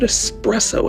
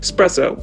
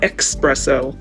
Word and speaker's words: espresso: that's right i said espresso s espresso okay not expresso this is how you say it espresso okay on this channel we say espresso but also said they